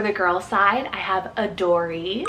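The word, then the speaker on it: Adorie: a names for the girls side I have a Dory it's spelled a-d-o-r-i-e a Dory this one is super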